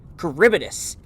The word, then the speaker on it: Charybdis: Charybdis.